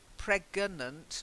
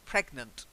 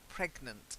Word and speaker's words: pregnant: a little bit shiny you add a syllable in between the hard sounds and the follow-on softer sounds like gonna so preganant no pregnant pregnant is just try it